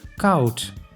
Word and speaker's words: koud: O plus U makes au, like in koud, which means cold.